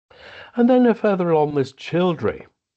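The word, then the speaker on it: Childrey: The Childry actually means it comes from Chilan Rith, which actually means chillers or Scylla. I think Chiller is the proper pronunciation rather than the pronunciation in Scylla Black. Chiller stream, and Rith is a small stream. And that's where it's located, where the Rith, the small stream, emerges from the chalk.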